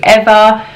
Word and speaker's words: Ava: with an AE and the correct pronunciation of her name is ever I did a video